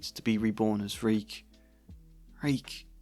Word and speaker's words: Reek: Reek, Reek. It rhymes with shriek.